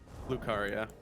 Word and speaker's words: Lucaria: Lucaria.